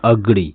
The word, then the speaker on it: agree: जैसे AGREE, इसको पढ़ते हैं अग्री। इसको क्या पढ़ते हैं? अग्री। एग्री नहीं पढ़ते हैं, इसको एग्री पढ़ना गलत है। इसका प्रोनाउंसिएट जो करेंगे इस वर्ड का, जैसे ए है, ए का यहाँ ओ साउंड दे रहा है, तो यहाँ बोलेंगे अग्री, ना कि एग्री।